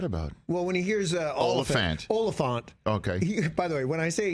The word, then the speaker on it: Olyphant: So it's... Olyphant. Olyphant. Like elephant, but Olyphant.